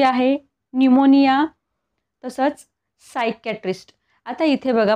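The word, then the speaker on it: pneumonia: का नाही सायकॉलॉजी आता इथे बघा पिमोनिया नाही म्हणत निमोनिया तसंच इथे बघा सायकॅट्रिस्ट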